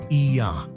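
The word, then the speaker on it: Oia: No trip to Santorini is complete without visiting the enchanting village of Oya, pronounced Iya, perched at the northern tip of the island.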